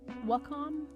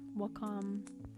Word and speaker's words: Wacom: have um I always fumble on the um pronunciation of this but wcom Wacom either either or I used to have um